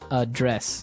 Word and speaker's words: address: So the verb address has the stress on the second syllable. Okay, address.